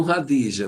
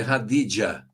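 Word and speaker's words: Khadija: É, os cristãos chamam radija, mas é radidia.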